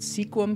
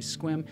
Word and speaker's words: Sequim: want to pronounce it sequim because it looks like sequim when you write it out but it's actually squim and for me that